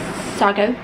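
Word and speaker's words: Siargao: in a place called it's spelled like sea Argo but this sounds like Sago um I am severely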